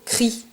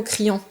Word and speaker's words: crient: On dit Mona et Paco crient, pas Mona et Paco criant. Quand le verbe se termine par ENT, on ne prononce pas ces dernières lettres ENT.